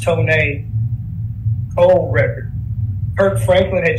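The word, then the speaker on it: Tonéx: Y'all remember Tone A, that first record he did, Pronounced Tone A, old record.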